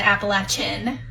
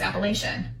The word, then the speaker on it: Appalachian: the Appalachin Mountain, which I was told that's exactly how you say it. We were brought up in Wisconsin and so we were brought up it was Appalachian. So, it's Appalachin. Appalachin.